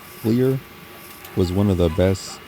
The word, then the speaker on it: FLYR: Yeah, in English you would probably say flyer because it's spelled FLYR, but obviously with the Norwegian pronunciation, they call it Clear.